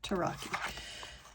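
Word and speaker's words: tarocchi: So now we know that tarot came from an Italian card game, Taraki. This one, and that is the correct way to say it, Taraki.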